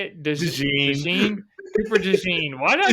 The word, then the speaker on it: DeJean: DeJean.